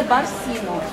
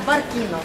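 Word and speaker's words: Barcino: Вот, когда пришли римляне, они видоизменили название, дали название Барсино. Да, некоторые тоже произносят как Баркино, то есть еще разногласия.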